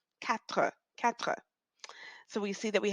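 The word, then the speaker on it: quatre: four in English and off it's K now you'll see that this word K in French is spelled with a Q now in English we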